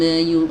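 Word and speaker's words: ي: Ya ini harus jelas keluarnya dari lidah bagian tengah. Yu, lidah bagian tengahnya pastikan terangkat teman-teman, terangkat mendekati langit-langit. Yu. Nah, jangan yu, lidah tengahnya nggak ngangkat. Ini wajib ngangkat.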